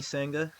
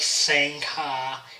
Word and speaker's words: Sangha: it's kind of i i explain it's like saying ha like saying ha and it just you know i have to spell it out for spell it out for them yeah i mean it's kind of be expected it's kind of more than one of them exotic kind of names yeah it's like sanka it's like closest and